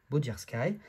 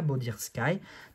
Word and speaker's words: Bodirsky: Je pense que ça se prononce comme ça, Bodirski, que vous connaissez très